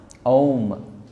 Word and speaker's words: ओम: ओम शब्द बना है अ उ म, ओम, उसका प्रोनाउंसिएशन होता है ओम।